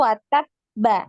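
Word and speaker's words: وَتَبَّ: bacanya kan lengkapnya tuh watab ba gitu ya, watab ba ya. Nah, seperti itu karena ada tasydid, maka ketika sukun ya di wakof di situ maka dinaikkan juga suaranya watab gitu ya, sama ketika lanjut ya di bacaannya dilanjutkan.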